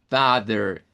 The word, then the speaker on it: father: En esa A se encuentra ese sonido. Father. Aquí no es A en medio de vocales, porque la separación silábica, de hecho, de esta palabra es FA, es una sílaba, y TH y la RE es la otra sílaba. Y se nos dice, mire, suena como que fuera una AR más o menos.